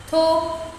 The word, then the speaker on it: talk: Talk, talked. L silent.